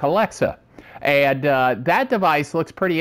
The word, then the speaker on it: Alexa: the weather like tomorrow alexa alexa the stress is on the middle syllable okay i didn't say